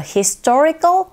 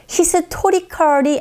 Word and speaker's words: historical: 빈칸에 들어갈 말들이 a historical monument라고 해서 역사적 기념물로 보존되고 유지되고 있습니다. Historical이 아니라 historical. 오, 이 부분에 강세를 줘서 발음하시는 것도 잊지 마세요.